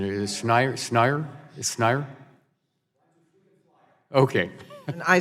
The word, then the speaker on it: Schneier: Is Schneier? Is Schneier? Okay. And I said it wrong, too. I added a D, so Schneier, right? So we apologize.